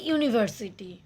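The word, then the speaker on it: university: এ ইউনিভার্সিটি, উচ্চারণটা হচ্ছে কি? ইউ।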